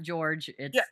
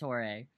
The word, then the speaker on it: Jorge: Not George. It's Jorge.